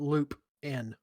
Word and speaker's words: Lupin: u p i n I spelled it Loop in that works too that's how you pronounce it anyway loopin hey lopin come here